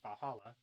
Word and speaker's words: VA-11 HALL-A: The name sounds silly and a bit hard to pronounce. Good thing it's actually called Valhalla. The funny numbers and letters are just a code.